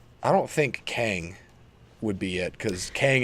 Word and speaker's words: Kang: And is it Kang the Conqueror? Is that how you say his name? Kang, yes.